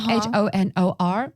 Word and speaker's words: honor: yeah I've heard it it's written like honor like h-o-n-o-r but it's pronounced as honor ah yeah yeah of